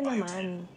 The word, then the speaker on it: Bioten: 10, as in the number 10. So you would say Bioten.